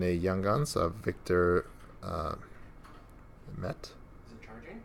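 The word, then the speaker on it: Mete: And a Young Guns of Victor Met. Is it charging? Meti, I think is how you say it.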